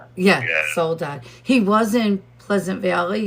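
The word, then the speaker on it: Soledad: He's in Soul is it solid solidad? I think I'm saying it right. Is it Soul Dad the prison? Solidad. Yeah soul dad.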